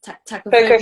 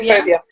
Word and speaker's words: tokophobia: Did I say it correctly? Tachophobia. Tocophobia. Yeah. Yeah.